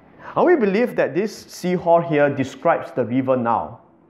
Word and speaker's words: Sihor: Now this word Sihor here, in English we pronounce it as Sihor, okay? But in Hebrew, the I is E. So sometimes we are always quite confused whether to pronounce it in the Hebrew way or the English way.